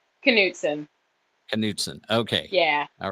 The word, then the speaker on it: Knutson: there's just one letter difference how do you pronounce your last name knutson knutson okay yeah all right um theirs has a